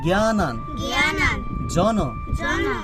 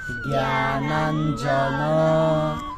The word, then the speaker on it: জ্ঞানাঞ্জন: আবার বলি জ্ঞানান জন। আচ্ছা, যুক্ত বর্ণটাকে ভাঙলে কিভাবে হবে? এই জ্ঞানান জন জ্ঞানান জন।